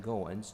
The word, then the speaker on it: Goins: Um, could you please state your name and spell it for the record? Yeah. Last name Goowens.